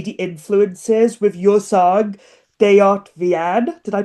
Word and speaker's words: Dejot vien: But obviously talking about those styles, I could definitely see the influences with your song Deart Vienn. Did I pronounce that right? Deaten.